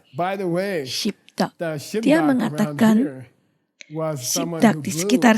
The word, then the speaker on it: gzhi bdag: Dan pengucapannya Shibdak. Kita mengucapkannya bi. Shibdak.